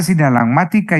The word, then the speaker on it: sinalagmática: relación jurídica obligatoria sinalagmática esa sinalagmática lleva acento en la penúltima a perfecto esto lo